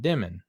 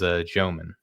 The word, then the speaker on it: Demin: And I'm pretty sure if I remember correctly, that he said in college last year that you pronounce it Demon. So, I don't know why he keeps changing the way that you he pronounces his last name. Maybe he's just having a lot of fun. But I think the correct pronunciation as of today's date is Joeman.